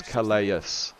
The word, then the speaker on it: Calais: You still pronounce Calais wrong. It's Calais.